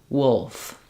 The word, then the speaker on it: wolf: it into this word so for example pull wool wolf so including wool here uh I've written Rewritten Wool with the same spelling even though it has letters o o it also has the uh sound so pull with u